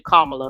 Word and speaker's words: Kamala: But my mistake, it's actually Kamala, like Kamala, so it's Kamala Harris. And secondly, this is where I was talking about when I found out that people are disagreeing with Kamala.